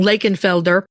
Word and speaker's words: Lakenvelder: You'll see the name sometimes spelled with an F, which is the German spelling, Lakeenfelder, instead of a V, but it's still mostly pronounced as an F.